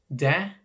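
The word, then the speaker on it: det: it or that it's de which is d-e-t but the t will never be pronounced then again some dialects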